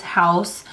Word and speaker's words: Haus: but yeah house laboratories I wasn't sure if it was like pronounced differently but from what I've seen across the internet it is house um and I just